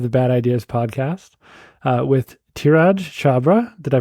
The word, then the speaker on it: Dhiraj Chhabra: We're back for another episode of the Bad Ideas podcast with Dhiraj Chhabra. Did I pronounce it correctly?